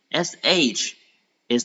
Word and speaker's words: 十: SH is the initial in pinyin.